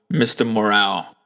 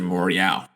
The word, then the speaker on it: Mr. Morale: this kendrick lamar album mr morale and the big steppers i believe that's how it's pronounced because on the album baby keem um he pronounced the album as mr morial morale um so yeah this